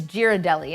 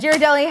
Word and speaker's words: Ghirardelli: and was like, it's Ghirardelli, isn't it? I think you pronounce the G. And Ghirardelli had a link in